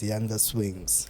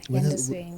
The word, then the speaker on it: Yandahswings: But everybody knows you as Yandahswings. Yeah, Yandahswings.